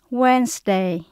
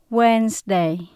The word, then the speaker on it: Wednesday: Và chữ S là chúng ta phát âm như là âm Z. Tuesday, Wednesday, Thursday.